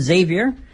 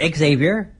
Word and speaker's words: Xavier: So next up, we have the 6-way X Division match, which sees Trevor Lee defending his title against Desmond Xavier, or Xavier. I've heard it pronounced both ways.